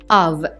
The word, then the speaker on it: of: this level المستوى دوت of الأف هنا بتتنطق v مش f، لو اتنطقت ف فهي كلمة off اللي هي عكس on.